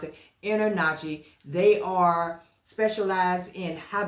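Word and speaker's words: InterNACHI: I N T E R N A C HI is how I pronounce it. Inner Nachi.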